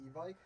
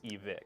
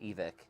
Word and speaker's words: Evike: I've always called it Evike. So for the longest but- time, I've said but, it's you know, I Evike. think that in their videos and in their media, like, they pronounce it. It's Evic.